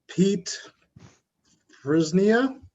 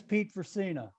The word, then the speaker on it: Pete Fercina: our concerns thank you pete frisnia christina i'm sorry that's okay you're not the only one that mispronounced that name my name is pete fercina i live at 334